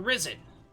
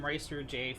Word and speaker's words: Ris3n: Oh god, I literally just asked him how to pronounce that. It's Ris3. I've been calling him Ris3J for years at this point, and it's Ris3. It's always been Ris3, 100% of the time.